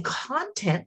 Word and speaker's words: content: But I want you to put your hand under your chin and say content. You emphasize the second syllable. But if I say content, it means person's things.